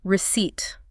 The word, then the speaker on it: receipt: There is indeed a P, and it is 100% entirely silent.